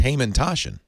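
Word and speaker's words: Hamantaschen: So these should be pronounced Hamantashen. Hamantashen.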